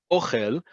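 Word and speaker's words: אוֹכֶל: Ochel, ochel, listen to how I say it, ochel, emphasis on the first syllable is food, as in food that you eat.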